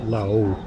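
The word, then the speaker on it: Laos: Thailand La is called La you don't pronounce the S and Cambo Cambodia is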